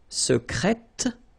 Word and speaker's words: secrète: Secret, secrète, secrètement. Okay, so I tend to insist a little bit on it just to make you hear the difference between the masculine. Secret, secrète. Okay, you're pronouncing the T.